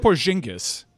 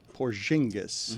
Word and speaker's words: Porzingis: How did you pronounce Kristop's name? He said Porzingis. Yeah, that's how you say it. Porzingis.